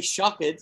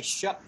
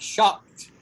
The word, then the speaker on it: shocked: is like this right it's as if it's like this s-h-o-c-k-t like that shocked shocked see that